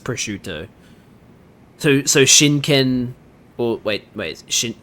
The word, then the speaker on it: prosciutto: That's pronounced prosciutto.